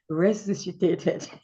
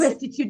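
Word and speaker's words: resuscitated: Resusitated. What word is restitute? No, it's not resitute.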